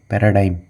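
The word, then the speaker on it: paradigm: बहुत important word है क्योंकि इसको हम लोग स्पेल करते हैं आई जीी एम और प्रोनाउंस कैसे करेंगे वाई एम ई ठीक है ना पैराडाइम प्रोटोटाइप य आपको पता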